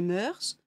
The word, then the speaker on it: mœurs: musique adoucit les mœurs les mœurs certains prononcent le S j'y crois prenez soin